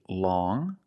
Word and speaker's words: long: First, we see long with the sound which is a nasal sound.